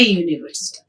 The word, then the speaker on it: university: about the reason why we are using a university see here if you see here the words